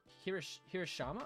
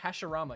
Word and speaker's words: Hashirama: If I watched Naruto, yeah, Madara and is it Hirashima? I forgot how you pronounce his name. Or Hashirama, yeah, duh.